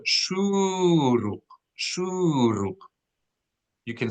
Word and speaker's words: shuruk: It is called shuruk. Shuruk. You can spell that SHEWREWQ.